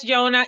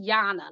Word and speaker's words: Yana: Thank you so much, Yona. And Yona, are you on the app yet? I think Yes. Oh, I'm sorry. My name is pronounced Yana, like Donna.